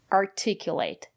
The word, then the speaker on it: articulate: So remember, if the syllable after the letter T is stressed, we pronounce it as T, articulate. And if the syllable is not stressed, we pronounce the letter T as a fast D, article.